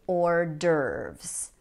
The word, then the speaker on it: hors d'oeuvres: Now, that's not the correct French pronunciation, but in English, we say hors d'oeuvres, hors d'oeuvres. Notice that the H and the S are silent here, hors d'oeuvres.